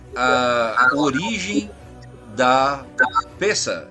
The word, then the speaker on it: Pessach: é a origem da Pessa? É assim mesmo que pronuncia? Isso, Pessar.